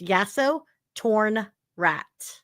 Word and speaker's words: Yasotornrat: It's spelled phonetically. If you just break it down, it's Yasso, then torn, and then rat. So it's Yasso, torn, rat.